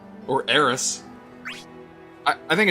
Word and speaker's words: Aerith: Or this whole connection to Aerith. Or Eris. I think it's Aerith.